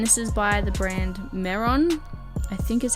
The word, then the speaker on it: Mehron: And this is by the brand Mehron, I think is how you say it, M-E-H-R-O-N, Tooth FX, just in the black colour.